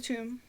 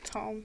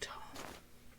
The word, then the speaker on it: tome: Did you have any luck finding the tomb? My apologies. I'm afraid not. It's tome. It's pronounced tome.